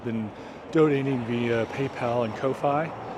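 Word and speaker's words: Ko-fi: donating via PayPal and Kofi or coffee I think is pronounced very much appreciated uh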